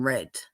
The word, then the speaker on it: read: you leave somebody on red the past tense for Reed is red it's spelled the same DC did she say pronounced differently and what you just said